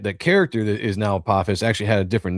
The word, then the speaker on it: Apophis: Apophis, yeah. So in Egyptian mythology, the Apophis is a god, but the reason why I have that name in the book is that the character that is now Apophis actually had a different name to begin with